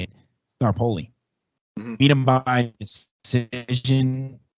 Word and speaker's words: Staropoli: Staropoli.